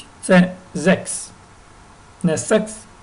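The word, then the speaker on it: sechs: добре шість - Це зекс не секс і не сегс і не сехс і не зехс а зекс зекс зек зайти сім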